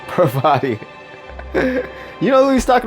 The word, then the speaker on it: Parvati: Pavardi. God, I'll never say her name right. Parvati.